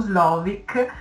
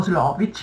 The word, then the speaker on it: Slovic: Allora, c'è un esperto, diciamo, mondiale di percezione del rischio che si chiama Paul Slovic, o Slovic, alcuni lo pronunciano in un modo, altri in un altro, che dice che noi reagiamo ai pericoli che percepiamo.